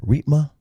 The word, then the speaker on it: Riepma: I said Riepma. Am I saying it right? You got it. Nailed it. Used to be known as the Grim Reaper. That's how you remember how to pronounce it.